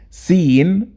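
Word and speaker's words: سين: And let's quickly know how to pronounce each of them. Seen, sheen, and the next pair, sod, dod.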